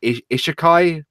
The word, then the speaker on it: Isekai: Maybe it's because I've been watching these anime, which I think Isekai. Am I pronouncing it correctly?